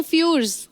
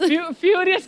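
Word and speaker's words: Furious: और दिखाइए, to fast to फ्यूर्स। वाह, ना फ्यूर्स। फ्यूरियस का स्पेलिंग है टू फास्ट टू फ्यूरियस।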